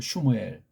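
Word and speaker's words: שמואל: 일본 발음으로 사무엘, 원문 발음으로 슈무엘.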